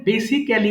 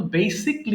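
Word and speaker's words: basically: তাহলে আমি এটাই বোঝাতে চাচ্ছি যে আমরা বেসিকলি, দেখেন বেসিক্যালি বলিনি, আমরা কিন্তু বেসিকলি উচ্চারণ করব।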